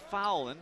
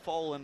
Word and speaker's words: Fowland: He says, yes, it's pronounced Fowland, but if you want to call him Foland, that's fine too.